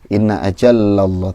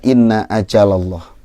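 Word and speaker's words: إن أجل الله: ya Inna aja loh tadi seperti ada tasydid Ina aja loh tadi bacanya seperti itu Jadi yang benar adalah Inna aja loh yang lainnya sudah bagus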